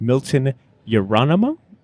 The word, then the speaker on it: Miltos Yerolemou: I am sitting with Milton Yerolemou.